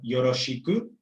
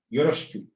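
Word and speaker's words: よろしく: Y no va a ser yoroshiku, va a ser yoroshiku.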